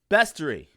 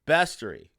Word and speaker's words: bestiary: uh by the way pronunciation bestory see b-e-s no a bestiary okay but if you